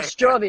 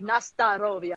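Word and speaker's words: Na zdorovie: Just like I did this song, and in America, a lot of people mispronounce Nastarovia. As yeah, Nastrovia. Yeah. And it's like, I was saying it wrong, but it's like Nastarovia, yeah?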